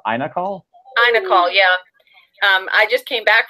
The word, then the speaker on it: iNACOL: How do you pronounce INACOL? INACOL, yeah.